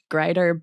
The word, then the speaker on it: Grieder: Or Greiter, but if you're pronouncing it the German way, it's Greeter.